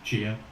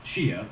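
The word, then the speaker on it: Xia: Chia is next, and it's spelled X-I-A, but I think it's pronounced Chia, so just bear with me.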